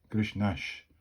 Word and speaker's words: Grishnash: Grishnash is how Kobold would pronounce that name.